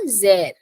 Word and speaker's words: sehr: And the last one is Danke sehr. Starting from S, pronunciation Z. Sehr. Danke sehr.